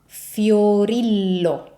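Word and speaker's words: Fiorillo: Fiorilo. So another double L ending. So if you have the double L ending, pronounce both L's.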